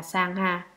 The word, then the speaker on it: Sangha: Tăng, nguyên là tăng già, tiếng Ấn Độ đọc là Sangha.